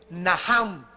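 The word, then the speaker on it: נחם: La primera palabra que se usó en el Antiguo Testamento es naham, en el hebreo que se escribe nacham. La CH en el hebreo se pronuncia como J y significa cambiar la manera de pensar.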